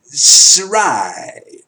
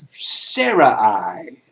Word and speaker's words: Sarai: ever had a wife whose name was suraíh or Sarah I as in Sarah I can't pronounce name SAR a I as we spell it in English so God saw it